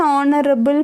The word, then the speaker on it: honorable: An honorable person, here also the H is silent.